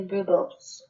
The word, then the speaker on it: rooibos: And then lastly, rooibos.